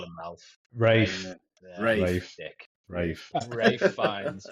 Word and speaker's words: Ralph Fiennes: We've got is it Ralph or Rafe? I don't know how he likes to pronounce his name. I call him Ralph. Rafe. Dick. Rafe. Rafe Fiennes. Ralph Fiennes.